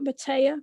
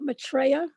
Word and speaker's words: Maitreya: Were you trying to say Lord Maitreya? Not Matea, but Maitreya? Maitreya.